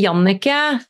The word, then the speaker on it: Jannecke: In Norway, it's actually Jannecke.